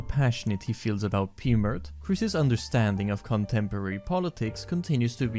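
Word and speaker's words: Pmurt: back upwards is pmert which rhymes with hurt and that Trump would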